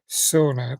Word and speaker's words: sauna: And um he's got he owns a company called SA Boss. Um the pronunciation of course it's the American and English way which is sauna but sa it's a Finnish word.